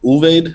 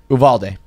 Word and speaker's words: Uvalde: actually i unfortunately haven't even learned how to pronounce it it's an ulveid what's it uvalde uvaldi texas baldi okay so like we'll think